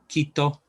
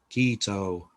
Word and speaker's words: Quito: a good example gold the spanish o is a very clipped oh it's not um an long oh like we'd we might do in english so very short clipped off the capital of ecuador is as i'm often being reminded is quito not quito um so beware those